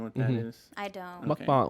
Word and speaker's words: mukbang: Mukbang or mukbang. It's like how they say it properly.